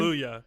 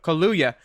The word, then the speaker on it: Kaluuya: Kaluuya. Yep. Kaluuya.